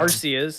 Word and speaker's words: Arceus: Well, like even I don't know, but even with like Ace, it's not a hard C because you don't say a K. So it's like Arceus.